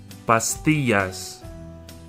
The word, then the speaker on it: pastillas: Pastillas. Pastillas. The double L has the Y sound.